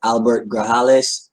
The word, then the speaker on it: Grajales: This is with Albert Grajales. I hope I'm pronouncing that correctly. As you guys are logging in. Oh, perfect. Yeah. Yeah, it's excellent. The J's pronounced like an H, so excellent.